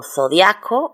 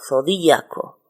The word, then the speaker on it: zodiaco: Yo puedo decir austriaco sin acento, pero puedo ponerlo con acento cuya pronunciación sería austríaco. O zodiaco o zodíaco.